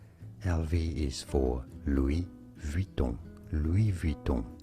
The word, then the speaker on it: Louis Vuitton: Louis Vuitton is how you say it in French.